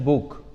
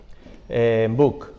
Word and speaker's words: Buch: Mi apellido es Buch, ¿vale? Jamás se pronuncia bien, o sea, no forma parte en fin, de mi historia y de mi cruz personal. Buch, que es un apellido, no sé si es